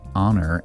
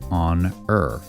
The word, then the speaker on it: honor: For example, if the AI put emphasis on the H in honor and pronounced it honor, you could submit a correction to say, it should be pronounced like on-er.